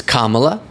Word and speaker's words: Kamala: of us to say our names correctly it's Kamala Kamala Kamala sometimes I feel like saying it